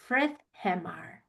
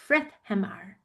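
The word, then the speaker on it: Friðheimar: and you go to Frithheimar. Frithheimar. Can you say that? Frithheimar. So look at how it's spelled and then how you say it is totally different.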